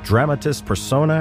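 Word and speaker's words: dramatis personae: in the particular chapter as dramatist Persona I think it's pronounced which is more akin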